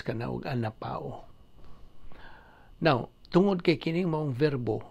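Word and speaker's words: ἀναπαύω: okay a n a p a u o pronounce ka na an Pao now tungod kay kong verbo verb anan sa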